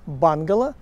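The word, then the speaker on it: bungalow: На самом деле, по-английски мы произносим это бангало.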